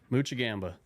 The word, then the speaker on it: Moczygemba: in heaven dad on your 80th birthday so pronounce your last name muchi Gamba yeah and anybody that doesn't know this young